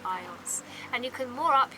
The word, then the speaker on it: eyots: and they're called aits, spelled A-I-T-S. And some of them are slightly bigger, and I think you pronounce it eyots. They're called eyots.